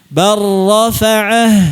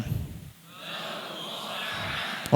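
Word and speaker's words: بل رفعه: Bar rafa'ah, silakan. Bar rafa'ah. Lamnya hilang sama sekali enggak ada, dikamilkan, sempurnakan langsung ke ra tanpa ada gunnah. Jangan dilamakan.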